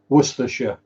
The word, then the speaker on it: Worcestershire: yesterday was it today it's pronounced Worcestershire we'll assess the shire or anything weird like ice was to chew so that's what I